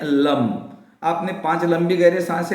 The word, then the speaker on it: लं: लगता है आप करें लेकिन लम ही बोलना है ल ए एम इसके बाद में आपको